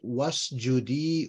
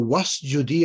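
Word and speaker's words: واسجدي: When you stick a waw there, the alif doesn't get pronounced. You just say, wa'lami, wa'lam, right? The alif, when you join in a previous letter, then the alif sort of gets dropped. You don't pronounce it, right? That's the Tajweed rule.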